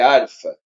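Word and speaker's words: ἄλφα: A gente fala mais alfa, mas é arfa.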